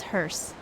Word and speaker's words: hearse: to the closed captions it's hearst right yeah rhymes with purse yeah hearse there we